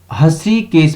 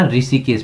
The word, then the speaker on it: हृषिकेश: उच्चारण दोष के कारण अब इसे ऋषिकेश नाम जाना जाता है। देखो हस्रीकेश कहा गया तो उच्चारण दोष हुआ था, तो क्या कर दिया, अब इसको क्या ऋषिकेश के नाम से जाना जाता है।